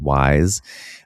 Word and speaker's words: YSE: But then on top of that, I started using this thing that Molly Sims has a line of beauty called YSE, pronounced Wise.